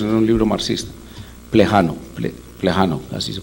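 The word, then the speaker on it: Plejánov: Plejano, así se pronuncia, que es el papel del individuo en la historia.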